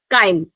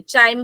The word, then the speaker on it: chyme: बनता है इसको हम क्या बोलते हैं, काइम, CHYME, चाइम बोल दो, काइम बोल दो, कुछ लोग अपने अपने वो बोल देते हैं, ठीक है। This is the spelling, काइम बोलते हैं, CHYME, काइम।